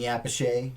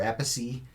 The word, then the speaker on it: Appice: You got Vinny Appice or Appice. You never know how to pronounce his last name because his brother pronounces the name differently.